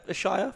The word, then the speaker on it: Ashayer: Yeah, Ashayer.